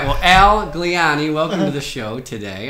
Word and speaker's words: Gliane: i can't find it i usually tell people they have when they have difficulty pronouncing my last name they think italian and they get it okay that makes sense